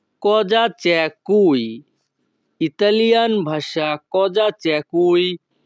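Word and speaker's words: Cosa c'è qui: এখানে বানানের উচ্চারণটা একটু ব্যতিক্রম হবে। উচ্চারণটা হবে কজা চ্যা কুই।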